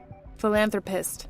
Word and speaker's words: philanthropist: That's why you you uh you emphasized on the on the ananthropist. Okay. Thank you. Anthropist. Very pissed. Thank you. Stress on the second syllabus.